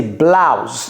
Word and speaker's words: blouse: Ça se ça s'appelle de la même façon mais ne se prononce pas de la même manière. Ça c'est blouse.